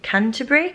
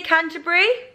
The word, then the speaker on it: Canterbury: to be going to Canterbury. How do you say Canterbury? Canterbury. Canterbury. Yeah. Canterbury. Not Canterbury or Canterbury, Canterbury.